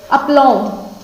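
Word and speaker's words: aplomb: पहला जो है, क्या लिखा हुआ है, अपलॉम। क्या बोलेंगे इसे? अपलॉम। बी साइलेंट रखिए, ठीक है। बी साइलेंट के वर्ड्स यहाँ पर हम जान रहे हैं, तो हमें बी साइलेंट रखना होगा, तब इसको बोलिए, ठीक है।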